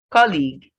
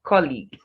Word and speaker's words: colleague: you the wrong pronunciation colleague colleague this word is to be stressed on its first level not the second so you say colleague not colleague determine determine this word is